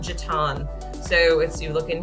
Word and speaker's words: Jetton: going to call it a Cornelius is called Jatan so if you look in here Jatan Road yes it's pronounced Jatan not Jetton and thank you to my local Charlotte teams